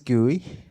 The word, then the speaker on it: Gooey: Um, my name is Gooey. It's pronounced as like a gooey chocolate chip cookie.